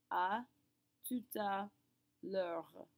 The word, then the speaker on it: à tout à l'heure: A tout à l'heure. L'heure. Yes, even though the L has an apostrophe after it, we pronounce it like it's all one big word.